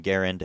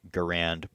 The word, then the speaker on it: Garand: by John Garand, and yeah, that is how he pronounced his name. I know people say Garand, but he pronounced his name with the emphasis on the first syllable, so I will be doing that as well.